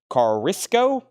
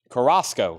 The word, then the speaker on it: Carrasco: And Joe King Carisco, how do you say his last name?